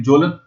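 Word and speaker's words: Kjølen: और उसमें मिलेगा आपको के जे ओ एलिन जोलन माउंटेन बोलते हैं इसको स्वीडन और नॉर्वे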